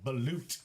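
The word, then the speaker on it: balut: We're going to get ourselves some belute. That's spelled B A L U T.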